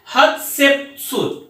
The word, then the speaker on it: Hatshepsut: तो queen हत्शेपसुत, हत्शेप HATSS के बाद में HUPSUT, हमने स्पेलिंग क्या लिखा, HATSHEPSUT, इसको हम लोग कहते हैं हत्शेपसुत, रूल्ड विद हर हस्बैंड एखेनटेन।